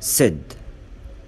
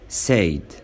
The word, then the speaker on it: said: احنا بنقول said، ما ينفعش نقول said.